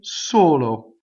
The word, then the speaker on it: solo: solo taste so low so the S is completely on the next note okay so low as